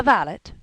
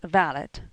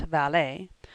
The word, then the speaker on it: valet: is extremely pretty but also extremely extravagant the valit pronounced valid not valet is what bo brummel called a gentleman's gentleman